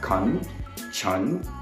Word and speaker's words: Kanchan: conscious so try to break that word in four different parts so first is Con second is Chun third is John and the fourth one is God so to break it apart think of four different words as in Constitution make that Khan apart um Chun as in chunky so break that Chung in the second part and Zhang as in Jungle and then the last one God as in Ghana so you have Kan